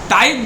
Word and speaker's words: tithe: टाइथ नाम का कर, TITHE। अब इसको आप लोग प्रोनाउंसिएशन में तिथे पढ़ दीजिएगा, लेकिन प्रोनाउंसिएशन तिथे नहीं होगा, प्रोनाउंसिएशन होगा टाइथ।